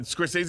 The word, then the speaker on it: Scorsese: I was gonna say because it rhymes with Scorsese. Franzese. Yeah, but Scorsese is actually Scorsese.